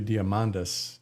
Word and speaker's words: Diamandis: But Peter Diamandis has this, and I guess to pronounce that correctly would be Diamandis, not Tis.